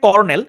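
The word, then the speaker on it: colonel: তুমি 10 পিপড়া কর্নেল এটার উচ্চারণটা হচ্ছে কর্নেল কিন্তু আপনি যদি স্পেলিংটা দেখেন তাহলে আমাদের সচরাচর উচ্চারণ করার কথা হচ্ছে কলোনেল কোন একটা এডমিশন টেস্টে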